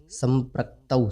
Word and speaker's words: संप्रक्तौ: संप्रक्तौ, औ, इसे इस तरह बोलेंगे संप्रक्तौ।